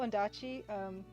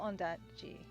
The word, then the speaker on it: Ondaatje: Walter Murch and Michael Ondaatje, I don't know how to pronounce it. Michael Ondaatje, I believe it's pronounced, put out a great book called The Conversation.